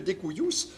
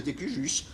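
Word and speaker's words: de cujus: Testament rédigé en langue anglaise, dûment signé, daté, paraphé, par lequel le découillus, en prononciation française, on dit le décujus, le défunt.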